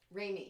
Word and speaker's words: Raimi: I gotta wonder, though, would it really have done good justice to the original had Campbell and is it pronounced Raimi? Raimi.